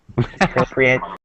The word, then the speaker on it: appropriate: When it's a noun or an adjective, it's just appropriate consulate. Okay.